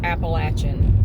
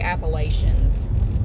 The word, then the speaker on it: Appalachian: And if you're from here, it's pronounced Appalachian. We can always tell if you're not from here if you say Appalachians. Because only people who don't come from here say that.